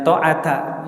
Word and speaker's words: ta'ata: Dan ta'ata ya, yang benar ta'ata.